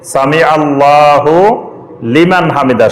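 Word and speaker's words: سمع الله لمن حمده: এটা হুলিমান হুলিমান ঠিকই আছে, এটার উচ্চারণ যখন একসাথে পড়বেন তখন এটা হুলি মানে হবে, সামি আল্লাহু লিমান হামিদা। শব্দ আলাদা, কিন্তু যখন আপনি একসাথে পড়বেন তখন সামি আল্লাহু লিমান হামিদা।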